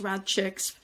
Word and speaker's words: RadChick: um and it is now rad CX still pronounced rad chicks for obvious reasons